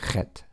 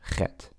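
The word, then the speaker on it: חית: The same sound that you would make if you have a mosquito stuck in the back of your throat or you swallowed a fly. You say Chet, Chet. Okay? That's typically, we don't have an equivalent in our English alphabet, but it's like a C and a H together is the closest thing we can get to it. Even though that says Chet, it's actually Chet.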